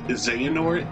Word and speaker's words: Xehanort: See one cutscene to know that's pronounced Xehanort and Aeroquiz.